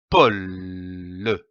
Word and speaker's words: pôle: L'association de ces deux syllabes donne le mot pôle, comme un pôle. Attention ici à l'accent circonflexe. On traîne le O.